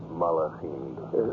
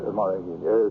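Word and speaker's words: מַלְאָכִים: Gedushim, the holy ones, and how do you pronounce it? Malachim. Malachim.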